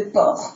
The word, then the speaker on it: porc: Au niveau de l'orthographe lexicale, on fait attention donc à l'accent circonflexe sur pêche et le C de porc qu'on ne prononce pas.